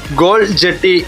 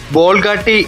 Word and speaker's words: ബോൾഗാട്ടി: ബോൾഗാട്ടി എന്ന പേരിന് പിന്നിൽ അറബി വ്യാപാരികൾ ഗോൾ ജട്ടി എന്ന് വിളിച്ചിരുന്ന ദ്വീപ് ഡച്ചുകാരുടെ ഉച്ചാരണത്തിൽ ബോൾഗാട്ടി എന്നായി മാറി.